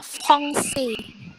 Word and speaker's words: français: Kemudian yang terakhir itu C yang ada ekornya dibaca S. Jadi franchise ya? Jadinya français. Jadinya français karena FRAN, N-nya itu jadi eng.